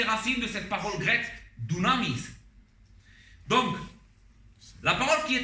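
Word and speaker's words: δύναμις: une parole qui elle elle se prononce Dunamis et certainement cette parole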